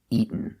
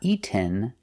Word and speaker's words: eaten: So in present eat, in past eight, the participle is eaten. Pronunciation, not eaten, but eaten. You go to a stop t, eat, and you fall to the end. Eaten.